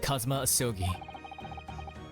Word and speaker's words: Kazuma Asogi: It's pronounced Kazuma Asogi.